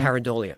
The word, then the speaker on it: pareidolia: Pareidolia.